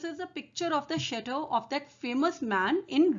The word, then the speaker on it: chateau: Now, this story has some French words, so you must pay attention to the pronunciation. It's chateau.